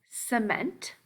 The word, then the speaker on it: cement: We will find words with a soft C sound, as in cement. So soft makes the S sound, which may sound like an S to our ears, but all of the words in this sort that have that sound actually start with a C. It's the soft C.